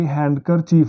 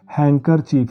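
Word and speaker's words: handkerchief: और आगे हैंडकर चीफ नहीं है दोस्तों, हैंकर चीफ है दोस्तों। इन सब शब्दों में डी साइलेंट है और सिर्फ एन की ही आवाज़ आ रही है, एन को ही बोला जा रहा है।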